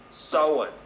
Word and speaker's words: Samhain: for the eve of Samhain pronounced sullen a celebration marking the